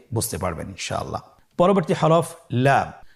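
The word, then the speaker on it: لام: পরবর্তী হরফ লাম। লাম হরফটি উচ্চারণের ক্ষেত্রে অবশ্যই বারিক হবে এবং তিন আলিফ টেনে পড়তে হবে। আপনারা আমার সাথে বলুন লাম।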